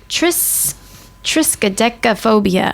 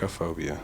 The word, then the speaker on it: triskaidekaphobia: fear of the number 13, and it is triskaidekaphobia. I'm going to go with that. Triskaidekaphobia.